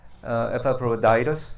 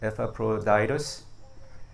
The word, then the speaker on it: Epaphroditus: So today we are talking about Epaphroditus. That's how you pronounce it. Epaphroditus.